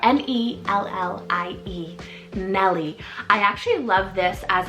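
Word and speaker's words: Mellie: little bit vintage here is Nelly spell m-e-l-l-i-e Melly I actually love this as a sibling name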